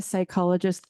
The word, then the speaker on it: psychologist: why can't you hear a psychologist P the p is silent it's terrible okay so